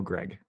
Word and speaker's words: Greig: a very like it's very close to other syllables I think that's all it is say it out loud Greg no Greg am I saying it right there